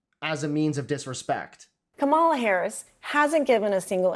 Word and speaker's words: Kamala: First you say comma, like the comma in a sentence.